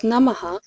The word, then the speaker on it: Namaha: The name is pronounced as Namaha, which is a common word used in Vedic chants.